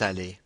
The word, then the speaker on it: allée: So, elle est allée. So in this situation, aller has two E's, however the pronunciation is the same.